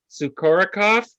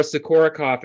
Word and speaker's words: Sukorokoff: I'm here with Laura Sukorokoff. Did I say it right? You did. You nailed it. It was perfect. Laura Sukorokoff, and she wrote the book, It's Not Them, It's You.